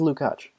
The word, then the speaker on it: Lukács: I was right, it is Lukács. Everyone says it wrong.